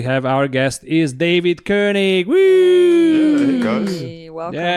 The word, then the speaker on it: Koenig: First question, because I always pronounce your name as Koenig. Koenig. Koenig, right? Because to me, it's a German name. But everybody else pronounces it Koenig. So how do you pronounce it? Oh, so yeah, the way you say it's correct.